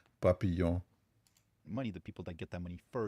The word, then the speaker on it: papillon: It doesn't depend how you pronounce it. This is a French word. It is papillon.